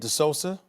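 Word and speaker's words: De Sousa: but for this kid the solsa that's how you pronounce his name he needs to be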